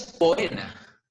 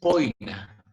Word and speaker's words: poena: No es poena, sino es poina. La pronunciación correcta del latín clásico, ¿bien?